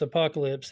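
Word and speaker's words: Apokolips: apocalypse it's actually put it's actually pronounced apocalypse even though that's a different way of spelling apocalypse from the Bible the biblical way of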